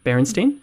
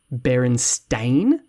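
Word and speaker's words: Berenstain: barenstein Bears um and if you were to ask basically anyone who grew up in the states to spell that they would spell it b r n s t e i n barenstein yeah um but it's actually spelled Baron stain and if you grew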